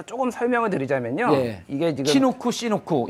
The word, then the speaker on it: 치누크: 이게 지금 시누크 이제 치누크라고 한국에서는 발음을 하고 있고요. 미국에서는 이제 시누크라고 발음을 하는데요.